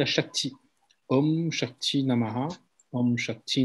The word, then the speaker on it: Shakti: Et après, il y a Shakti. Om Shakti Namaha, Om Shakti Namaha, Om Shakti Namaha. Ok, Shakti, S-H-A-K-T-I ou S-A-K-A-T-I, parce que le S en sanskrit se prononce Sh.